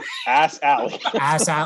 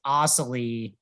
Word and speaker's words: Astley: Greg, Brad, can we pronounce that? Ass Alley.